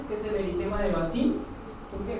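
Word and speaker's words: Bazin: Ya tenemos otras lesiones, que es el eritema de Bassin. ¿Por qué? Bazán. Se escribe Bassin, pero se pronuncia Bazán.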